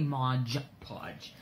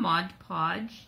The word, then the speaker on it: Mod Podge: I always want to say Modge Podge.